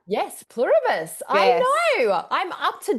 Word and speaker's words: Pluribus: I'm looking forward to tonight watching my new favorite show, Plurus. Oh, am I saying it right? Yes, Pluribus.